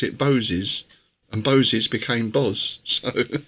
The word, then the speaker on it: Boz: And Boz was actually originally pronounced Bose, so that fits in with the Boses thing.